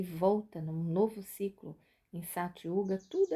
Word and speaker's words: Satya Yuga: E quando se recomeça, termina Kali Yuga e volta num novo ciclo em Satya Yuga, tudo é restaurado dessa forma.